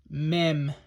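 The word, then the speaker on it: מ: right and this one is mem all right horizontal upside down U with a little bit of a line right there to the top left okay that's mem it also has it makes the M sound it also has a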